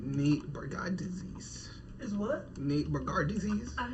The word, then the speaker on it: Bargatze: Oh, Bargatze, not Bargatze. Okay. You added so many syllables to that man's name for no reason.